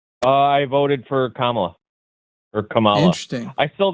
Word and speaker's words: Kamala: Kamala like the like the little symbol comma.